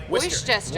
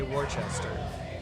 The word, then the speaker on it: Worcester: Worcester. Worcester. Worcester. Oyster. So it's, Worcester. So it's like oyster, Worcester.